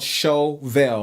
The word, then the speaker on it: Shovel: And this song is a song I wrote a few years ago called Shovel, like S-H-O-V-E-L, like shovel, but I just pronounce it fancy because I mean, it sounds better, right?